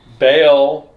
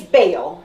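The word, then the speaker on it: Vail: So, and then we have, the beginning of the new episode, Vale. It's Bale. See, that's the thing. So the problem is they're taking it phonetically.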